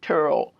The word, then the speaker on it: Turrell: I would hear names like Viola Turrell or Terrell, but they pronounce it Turrell.